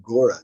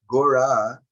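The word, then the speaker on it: Gaura: our English transliteration system a common spelling for the name of garanga mahaprabhu is Gora with a long a on the end and uh that it's a little differently spelled that sometimes a general g-a-u-r-a Gora in this case means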